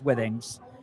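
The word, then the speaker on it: Withings: one that that I personally use is uh Wings. Yes. Some people pronounce it Wings or, you know, there's different pronunciations, but it's Wings.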